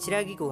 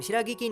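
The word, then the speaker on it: Shiragiku: हाँ गाइस, जिसका नाम शिरागी की नहीं बल्कि शिरागी को है। मैंने प्रोनाउंस करने में ये चीज अभी नोटिस की।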